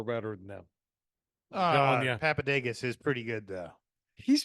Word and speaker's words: Papadakis: Papadakis.